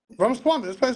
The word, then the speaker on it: Ramaswamy: Ramaswamy, I pronounced his name correctly.